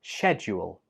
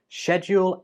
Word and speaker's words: schedule: Number 26 has two acceptable pronunciations. It can be pronounced as schedule or schedule. In British English, schedule and schedule are both commonly used. In American English, schedule is the most commonly used one, but you can choose which one you want to use.